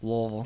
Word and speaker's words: Louisville: in B and raised Louisville Louisville Louisville Louisville yeah they sell shirts that say say it like you're drunk on Bourbon so it's lville yeah kind of blur it all together so we've talked about